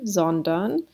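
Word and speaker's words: sondern: so meaning but rather zondan so the s the s is trying to trick you into thinking that it's an f but it's really an s okay next one this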